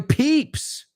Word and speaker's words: peep: And that second one peep rhymes with steep.